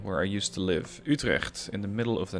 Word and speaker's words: Utrecht: Dutch or Belgian, because the G sound from Utrecht, that's something that most nationalities, most languages don't have. It's very hard to pronounce, and it is also present in my own name.